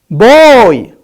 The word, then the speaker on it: boy: Boy.